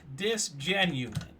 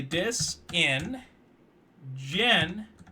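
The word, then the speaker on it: disingenuous: uh sidebar real quick you tend to say this right dis genuine that's how you say it is that actually the proper usage of that word though it's not that's not even a real world it is actually dis in gen that's the proper word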